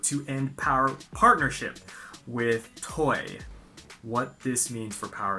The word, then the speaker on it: Toei: end power partnership with TOEI. What this means for Power Rangers on TV. Now, let me just make something clear. It's pronounced TOEI, not TOEI, okay?